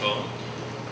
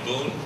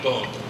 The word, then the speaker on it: Boon: uh that's from Frank bone uh Americans might know him as Frank Boone that's not really right two o's in Flemish it's pronounced O So Frank bone so now you know